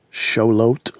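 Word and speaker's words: Xolotl: pronunciation but the god his name is spelt x-o-l-o-t-l show lot shout-out something like that anyway shalom was the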